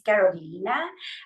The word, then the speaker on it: Carolina: And let me start by saying that the way to pronounce my name is Karolina. And there's no way for you to know that unless I tell you because it's spelled exactly how you would say here in the United States. I am originally from Chile and we speak what we call Castillo Spanish there and that's the reason for the different pronunciation.